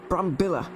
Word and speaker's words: Brambilla: me last week it's it's not brandy it's bunk Brambilla that's I think I'll